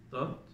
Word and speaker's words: taught: Teach, Tot, tot. Es un poquito complicado, pero esta es de cuenta que viene siendo como una U, pero un poquito más alargada.